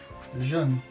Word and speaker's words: jaune: Jaune, jaune, jaune. Yellow is pronounced jaune.